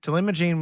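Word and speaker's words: talimogene: Telimagene was right, and then Laherparepvec is the second one.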